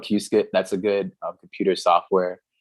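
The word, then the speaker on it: Qiskit: I'd recommend there's there's something called it's called Q skit Q skit uh people don't really pronounce it it's called Q skit that's a good computer software helps you simulate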